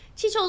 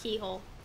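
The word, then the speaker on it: Cichol: If this continues, Chicho's army will swarm over Aaron. I know it's pronounced keyhole. Please help Tarlok. Tell him of this. Please protect your world. Not Chicho.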